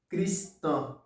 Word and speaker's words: cristão: Pour dire chrétienne en portugais, on dit cristão.